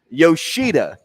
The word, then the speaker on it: Yoshida: Yoshida is how you pronounce.